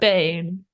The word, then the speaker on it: Brisbane: And is current Brisbane. Bris Whoa. I don't did I pronounce it wrong?